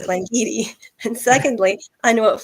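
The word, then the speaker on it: Glen Garioch: of um it's called Glen Garrick up in the highlands in Scotland and Alan brener is like well firstly it's pronounced gleni and secondly I know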